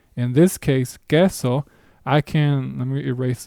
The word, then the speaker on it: queso: And for our purposes, an example word for that will be the word queso with which means cheese.